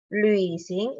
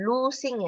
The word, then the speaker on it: 旅行: Luising, ini bacanya bukan lusing ya, tetapi lui, L-U-I, lui, lui, tetapi baca U dengan I-nya sama-sama. Ya, kayak tadi itu nui, ini lui ya.